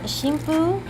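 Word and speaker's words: 神風: At that time, the characters were pronounced shimpu.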